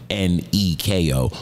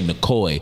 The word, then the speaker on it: Neko: I was really little, because my name isn't spelled the normal way people would spell Nico. Right. My parents spelled it N-E-K-O. Most people spell it N-I-C-O. So like Neko, he would say Nicoy, which made no fucking sense to me, because I'm like, where do you, nowhere in the spelling of my name does that even make sense.